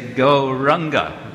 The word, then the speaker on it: Gauranga: It has 4 syllables. It's very simple. You already know it. Gaura Anga. Gaura Anga. Gaura Anga. We usually say Gauranga.